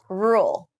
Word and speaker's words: rule: alone with this one this is a very difficult word to pronounce for even americans okay rule rule rule it's really in the back of my throat and the r sound is quite pronounced rule rule and i don't open my mouth that wide for